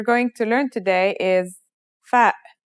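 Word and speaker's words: فاء: The first letter we're going to learn today is fa. Fa is pronounced just like the English F.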